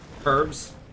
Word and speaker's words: herbs: for medicines so they I noticed you're using the British pronunciation now what herbs hmm whatever don't watch